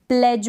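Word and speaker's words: pledge: है इंग्लिश में हम प्लेज बोलते हैं। क्या बोलते हैं? प्लेज। तो इसमें भी डी आपने देखा होगा साइलेंट रहता है।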